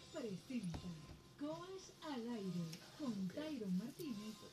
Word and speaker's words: Tyron: Quien te habla se dice Tyron, pero se escribe Tirone en las redes sociales, @seescribetirone con Y.